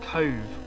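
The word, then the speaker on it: Cobh: we've arrived here at cove spelt with a bh all right we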